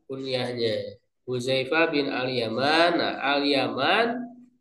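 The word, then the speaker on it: اليمان: Nah, Alyaman cara membacanya bifatil musannati tahtiah. Mempatahkan huruf yang bertitik dua di bawah. Maksudnya huruf ya. Watahfifil mim. Mentahfifkan mim artinya tidak pakai tasdid.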